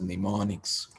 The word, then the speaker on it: mnemonics: So here we use English like words called as mnemonics. Mnemonics. M is silent there, MNEMONICS, mnemonics, to represent the operation.